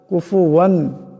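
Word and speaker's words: كُفُوًا: ওয়ালাম یولد ওয়ালাম ইয়াকুল্লাহু কুফুয়ান আহাদ ওয়ালাম এখানে গুন্না করা যাবে না ইয়াকুল্লাহ কাফ লাম কে ধরবে ওয়ালাম ইয়াকুল্লাহু কুফুয়ান আহাদ কুফুয়ান এখানে গুন্না করা যাবে না বেলা পড়তে হবে আহাদ এখানেও দাল সাকিন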